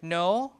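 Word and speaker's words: know: ago in Old English the word no used to be pronounced k kooan like that chin really and then like that and then answer answer in Old English if you study Old English but then K before n is deleted in every in every word so words like ni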